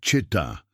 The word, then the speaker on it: Shetá: Los Shetá, se pronuncia Cheta, eran el último grupo indígena nómada del sur de España.